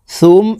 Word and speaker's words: ثم: تقويم لقد خلقنا الإنسان في أحسن تقويم ثم رددناه সুম এখানে ওয়াজিব গুন্নাহ মিমের উপরে তাসদিদ আছে। হরকতের বামে নুনে মিমে তাসদিদ হইলে সর্ব অবস্থায় নাকের বাসি থেকে গুন্নাহ করিয়া পড়িতে হয়।